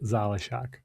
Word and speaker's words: Zalishak: So it's not like my last name is pronounced like Zalishak. Oh, okay. Zalishak. Zalishak? Yeah. Not Shock, Shack. Yeah. Okay. Zalishak. So you're longer on the A and the A.